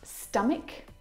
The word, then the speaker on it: stomach: Words like stomach and ache. The ch in all of these words is pronounced like a c sound.